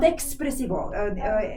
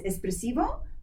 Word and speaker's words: espressivo: No, not expressivo. In English we have expressive, but in Italian it's like espresso, coffee. The essence. Espressivo, yes.